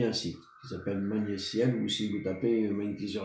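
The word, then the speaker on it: Magnétiel: Mais c'est Magnéciel, ça s'écrit M-A-G-N-E-T-I-E-L.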